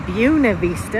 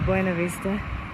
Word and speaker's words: Buena Vista: So we're trapped in Buena Vista, as they pronounce it here. The locals pronounce it, even though the correct pronunciation is Buena Vista.